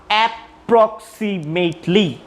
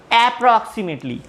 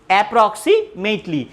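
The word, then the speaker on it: approximately: এখানে একটা জিনিস খেয়াল করবে, নট অ্যাপ্রক্সিমেটলি, এরকম না, অ্যাপ্রক্সিমেটলি, অর্থাৎ দুইটা পি একটা হিসেবে উচ্চারণ হবে, অ্যাপ্রক্সিমেটলি।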